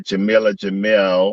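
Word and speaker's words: Jameela Jamil: what i understand um jamilah jamil i believe is how you pronounce her name is playing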